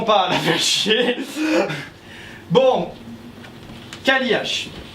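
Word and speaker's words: Cailleach: Kaliach. Alors ça s'écrit C-A-I, 2 L-E-A-C-H.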